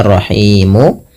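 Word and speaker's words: الرحيم: Awalnya rahimu dimatikan menjadi rahim. Nah, sebelum huruf sukun arid ini ada huruf mad berupa alif, waw atau ya. Maka dinamakan mad arid sukun. Panjangnya boleh 2 harokat, boleh 4 dan boleh 6.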